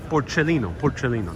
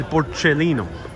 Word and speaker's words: Porcellino: So here is el porcellino, that's how you pronounce it. El porcellino.